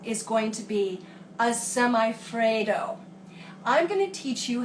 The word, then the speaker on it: semifreddo: Semifreddo. Have to get the pronunciation right.